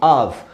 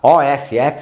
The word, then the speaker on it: of: eu usei a preposição off que cuidado com a pronúncia também né of se lê com som de v tá de v e não de F tá off de desligado a gente